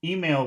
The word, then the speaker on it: email: Okay, So email would be a good thing to emphasize. okay. What is that's two syllables. Which syllable has all of the sound? Email. Email. E. Mail, I think. No. Mail. Whenever you put the word